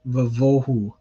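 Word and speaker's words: וָבֹהוּ: So you'll see here, tohu vavohu. So it's a va with a kametz because vohu is one of those words where the stress is placed on the first syllable.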